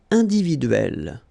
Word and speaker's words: individuelle: So remember when you get this and then double consonant, and especially here it's the same one, that's the idea. It will open the sound of so you will pronounce it like é.